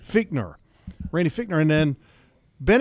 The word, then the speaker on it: Fichtner: his quarterbacks coach Randy how do you say it Fichtner feat nur Rainey Fichtner and then